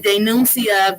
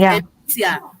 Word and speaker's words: denuncia: The way he said denuncia, violencia, that's not Spanish. It should be denuncia, violencia, right?